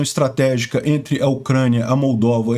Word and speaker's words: Moldávia: Eu peço desculpas, eu tenho a mania de ler os nomes em inglês e pronunciar eles como está em inglês, que é Moldova e România, mas não, em português é Moldávia e Romênia.